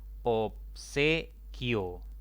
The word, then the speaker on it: obsequio: Obsequio. 3 sílabas. Esta palabra tiene 3 sílabas. La mayor intensidad está en la penúltima sílaba, ¿no?